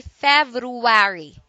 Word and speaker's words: February: end and February February don't say fab you worry do say February ok it is a